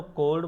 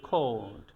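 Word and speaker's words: cold: এটারে কখনো কোল্ড বলা যাবে না, বলতে হবে খোল্ড।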